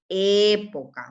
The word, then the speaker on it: época: Entonces hablamos de época. Muy bien. Acento en la E. Época.